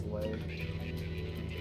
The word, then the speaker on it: Le: Well, my last name is spelled L-E, but I thought it was Lee for a while. And then I was corrected. Is it Lee or Lay? It's Lay. Lee is 2 E's.